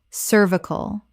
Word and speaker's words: cervical: Cervical or cervical. Both pronunciations exist, but the British version is more common in medical contexts.